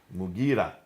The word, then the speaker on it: Mughira: Sorry for the pronunciation. Qais. In Syria, Al-Muqarid ibn Shuba. Mughira ibn Shuba.